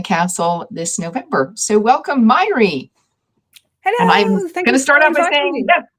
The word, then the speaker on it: Mháire: this November so welcome myy hello GNA start out by saying yes that is how you say that if you're seeing that name you can say myy like Miley Cyrus but if you had